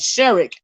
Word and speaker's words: Sherrick: So the name is Sherrick and not Sharif.